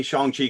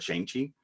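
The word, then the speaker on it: Shang-Chi: father and i say chongchi because that's how kevin feige pronounced it when he had when he introduced this uh i've always called it shanxi but apparently i'm an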